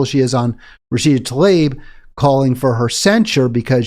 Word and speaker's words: Tlaib: I want to say Tlaib because it seems like it's spelled that way, or Tlaib even. A-I is often pronounced I, but it's Tlaib.